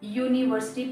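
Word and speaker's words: university: एक बार मैं फिर से बता देती हूँ, यूनिवर्सिटी में जो यू लेटर है उस यू को हम यूनिवर्सिटी प्रोनाउंस करते हैं, यानी कि यू, जैसे हम बोलते हैं यू, तो वहां पर यू आ रहा है, यू वाई ओ यू, उसका प्रोनाउंसिएशन आ रहा है. तो इसलिए यू का फर्स्ट लेटर वाई होता है और वाई एक कॉन्सोनेंट है, इसलिए हमें यहाँ पर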